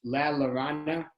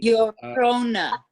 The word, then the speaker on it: La Llorona: Just as a point of information, it's La Llorona, if I'm pronouncing it badly. Llorona.